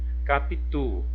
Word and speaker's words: Capitu: Capitu. Olha, o tu é a sílaba tônica da palavra capitu.